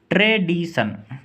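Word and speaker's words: tradition: Next ट्रेडिशन, यहाँ भी आप देख सकते हैं TION का अर्थ है सन। इसको बोलेंगे ट्रेडिशन।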